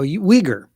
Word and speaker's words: Uyghur: Is like Uruguay? Oh, Uyghur. Uyghur. It's Yes, pronounced there it is. Uyghur.